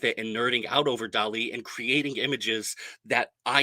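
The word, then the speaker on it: DALL-E: to image tool called Dolly uh Dolly like Salvador Dali but spelled like Wally the Disney cartoon d-a-l-l-e if you guys are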